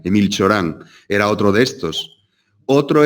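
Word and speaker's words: Emil Cioran: ciorán 8 ahora en en la pronunciación rumana emil ciorán era otro de estos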